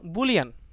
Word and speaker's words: Boole: এটা প্রোনাউন্সিয়েশন ব্যাপার, বাট বুলি উচ্চারণটা হচ্ছে ইনকারেক্ট। আমি অনেক জার্নালে বা অনেক আর্টিকেলে দেখছি, আসলে সায়েন্টিস্ট দেখছি ওরা বুলিকেও বলে না, সব বুল বলে, কিন্তু কেউ কেউ রং বলে বুলি বলে, আসলে বুলি না, এটা বুল।